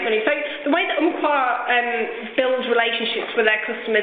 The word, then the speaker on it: Umpqua: Regarding Umpqua, how do you pronounce it? Umpqua.